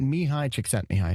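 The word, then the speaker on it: Mihaly Csikszentmihalyi: and the Godfather of flow is the late mihai chick sent me High may he rest in peace that is how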